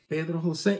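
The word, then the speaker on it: Pedro José: Pedro Jose is made out of four syllables.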